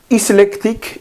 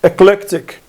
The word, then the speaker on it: eclectic: one this one eclectic not iselectric it's eclectic eclectic means a combination of different